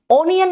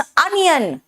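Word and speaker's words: onion: वो long sound है ओ mode ओनियन नहीं होता इट्स अनियन अ कॉट O good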